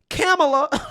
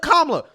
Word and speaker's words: Kamala: about the fact that you're mispronouncing kablo Harris's name you're calling her camela right instead of kamla now here's the thing